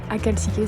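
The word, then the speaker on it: Akhaltsikhe: Je suis partie ce matin alors j'ai essayé de bien le prononcer, Aralkasire. C'est pas Aralkasire, c'est Aralkasire, si je ne m'abuse.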